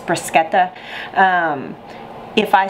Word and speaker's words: bruschetta: something absolutely delightful um here in the South this is called brushetta um the actual pronunciation which this isn't Italian in origin is brisket the um if I